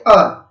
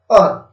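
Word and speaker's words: heir: और ये जो शब्द है अगला एच ई आई आर, एच ई आई आर, इसको पढ़ते हैं अर। ठीक, अर, तो अर पढ़ेंगे तो हमारा साउंड प्रोड्यूस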